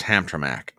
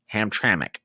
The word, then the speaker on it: Hamtramck: why here's Detroit here's hamac that's one reason oh ham okay pronounce hamr hamic Hamtramck okay thank you appreciate that because